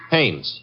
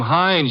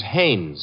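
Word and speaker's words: Haines: Hannes. H A I N E S. Ah. Oh, Hannes. Yeah. Do you know him? Well, there's a fellow named Hines used to fish.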